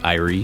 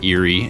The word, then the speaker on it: Eyrie: people say Eyrie, and some people say Eyrie. And I actually looked it up online, and all of them seem to be valid ways of pronouncing them depending on what country you're from.